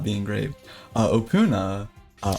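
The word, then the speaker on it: Opoona: Uh, Opuna, uh, O P O O N A, uh, it's not the easiest to pronounce.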